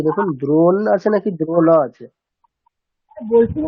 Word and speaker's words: দ্রোণ: মূর্ধন্যের নিচে একটা হসন্ত থাকবে, তবে আমরা প্রোনাউন্সিয়েশন করতে পারবো যে দ্রোণ। আর যদি হসন্ত না থাকে তাহলে মানে প্রোনাউন্সিয়েশনটা কেমন হবে? তাহলে অকার আছে, তাই না? ধরে নিতে হবে অকার আছে, তাহলে দ্রোণা এরকম হবে, তাই না?